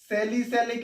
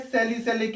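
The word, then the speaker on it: salicylic: सैलिसैलिक acid. क्या बोलते हैं? सैलिक एसिड। बच्चों स्पेलिंग एक बार देख लेना, इसको बोलते हैं सैलिसैलिक एसिड।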